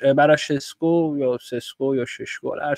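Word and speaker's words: Šeško: ببین مثلاً این شاید به زبان محلی کشور خودش این ششکو باشه خب ولی من کلاً سعی می‌کنم اسما رو چون معمولاً از منابع انگلیسی و اخبارا انگلیسی می‌بینم چون اونا مثلاً میگن ناخودآگاه تلفظ اسما به صورت اونایی که انگلیسیا میگن میشه حالا زبان بین‌المللی دنیام هست دیگه انگلیسیا بهش میگن سسکو حالا شما می‌خوای بگی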